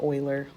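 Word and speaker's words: Euler: You're going to see this name and you're going to want to call it Uler, but it's pronounced Oiler.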